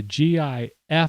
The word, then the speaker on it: GIF: you know what jeff peanut butter is j i f and yes there is some such thing as a soft g okay but a gi f file would be like gif okay it's a hard g gif anyway this was